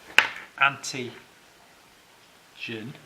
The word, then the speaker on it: antigen: is meant by the term auntie gin and I say it like that because it's you know generates antibodies that's the way I remember it is an antibody generator or well the more